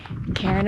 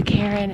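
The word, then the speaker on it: cairn: You can see the Karen up here to tell you that you're on the path. A Karen is it's spelled C A I R N S and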